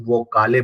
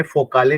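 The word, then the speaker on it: Vokale: होते हैं जिनको हम वो काले बोलते हैं ठीक है यहां पे मैंने फो काले नहीं पढ़ रहा हूं मैं यहां पे वो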